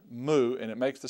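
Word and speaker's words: mu: line again it's all one stroke little tail moo m m moo moo okay let's look at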